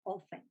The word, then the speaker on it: often: is going to be often. So I'm going to repeat often. Often. Often. Often. Often. Often or often? Often. Often. Yes. Okay, the T doesn't sound. Often. So the correct pronunciation is often.